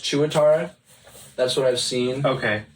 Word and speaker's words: tuatara: They're just classified as Tuatara.